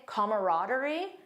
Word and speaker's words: camaraderie: And also, I had no idea there was another pronunciation that some people say camaraderie.